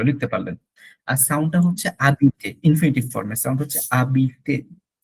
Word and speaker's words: habite: যে যাচ্ছি, এইচটাও ভাওয়েল, এইচটা হচ্ছে মিউট ভাওয়েল, সাইলেন্ট ভাওয়েল। হ্যাঁ, সো এটা হচ্ছে এইচ, মিউট হ্যাঁ, এবং এইচ এর উচ্চারণ অনেক সময় এর মতো হয়। এক্স্যাক্টলি। তাহলে এটা আপনার হচ্ছে like it doesn't go with like হাবিত না, ইটস আবিত, আবিত।